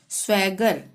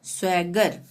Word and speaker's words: swagger: जैसे डैगर, DAGGER, ठीक है, डबल जी के बाद ई हो कुछ भी हो, ठीक हो आगे, तो उसका उच्चारण ग ही होगा, डैगर। स्वैगर, SWAGGER, स्वैगर।